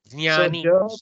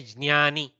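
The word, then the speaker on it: ज्ञानी: Yeah, because Jnani, Jnani. Little bit like ja you bring, you say Jnani like that.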